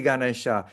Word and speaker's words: Ganesha: tell us that, no, you shouldn't say Sri Ganesha, you said Sri Ganesh. Yes. You say, well, Srimataji didn't say it that way. You know? So, oh, well, you know, but that's the right way to say it.